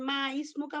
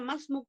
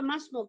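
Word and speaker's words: ما اسمك: উচ্চারণ হবে যেমন মাসমুক যেমন আমরা বলি না মাসমুক তোমার নাম কি এটা কি মা ইসমুকা পড়বেন না মাসমুক পড়বেন বলি আমরা শুদ্ধ হচ্ছে মাসমুক কারণ হচ্ছে আলিফটা হচ্ছে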